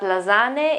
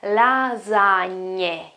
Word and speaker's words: lasagne: It's not lasagne, it's not lasagne, it's not lasagne, okay? It's lasagne, okay? We have already talked about this sound here, gn sound. That is typical in Italy, okay? So lasagne, and most of the times this word here